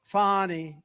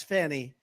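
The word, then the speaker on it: Fani: right has anybody fonnie it's pronounced fonnie F ni I that's Fanny she likes it fonnie when she became the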